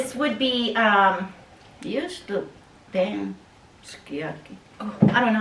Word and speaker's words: sukiyaki: Japanese language, they drop some of the vowels when they speak. But if they are born and raised here Japanese and they're working in a Japanese restaurant, they probably call it sukiyaki, and the older generation, I'm sure, calls it So skiyaki.